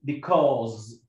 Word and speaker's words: because: بي ك أوز، بيكوز، ما اسمهاش بيكوز، مش اسمها بيكوز، اسمها because.